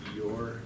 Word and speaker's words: EOIR: Right now, I think there's something like 300, a little over 300 judges, and it's EOIR. It's pronounced EOR.